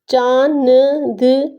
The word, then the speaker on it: चांद: चांद, चांद, चांद। नून की जो है आवाज़ वाज़े तौर पे नहीं होगी, वो नून गुन्ना ऊपर बना हुआ है तो नून गुन्ना में तब्दील हो जाएगी, साइलेंट हो जाएगा।